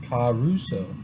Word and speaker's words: Caruso: Caruso. Caruso. What's Caruso? Caruso. That's how you say it.